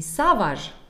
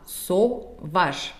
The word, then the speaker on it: sauvage: Не savage, а sauvage, потому что A-U читается как один всего лишь звук.